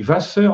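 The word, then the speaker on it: Wasser: relations aussi sauf que on dit Vasseur en allemand on prononce V qui est le la graphie du U antérieur donc on devrait prononcer ouasseur si on était dans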